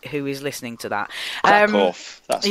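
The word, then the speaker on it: Kraków: Krakow, that's how it's pronounced.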